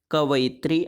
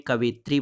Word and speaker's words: कवयित्री: बार पूछा जाता है कवित्री तो याद रखिएगा कब अत्री भले ही आप उच्चारण में कवित्री बोल देते हैं वह गलत है लेकिन सही उत्तर कविता